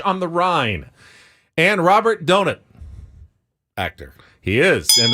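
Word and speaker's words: Donat: the Rind and Robert donut actor he is and that's how he I guess pronounces his name just like Paul pronounces donut Robert donut and do Nat Goodbye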